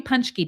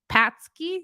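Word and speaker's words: pączki: hello M happy happy punchkey day so I was living in Michigan I was told that this is pronounced punch key right patsky seems like it would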